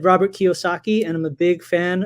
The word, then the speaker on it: Kiyosaki: How do you spell that, Kiyosaki? Go for it, JC. So it's not exactly spelled how it sounds, but it sounds Japanese. It is Japanese. It's Kiyosaki.